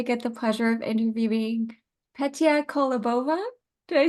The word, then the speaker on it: Petia Kolibova: I'm Carolyn, and today I get the pleasure of interviewing Petia Kolibova.